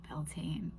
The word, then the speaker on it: Beltane: So, Beltaine is a fire sabbat. There are very many varying views on pronunciation.